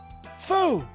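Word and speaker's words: 福: food characters now boondin this is fool say it like this fool i know the character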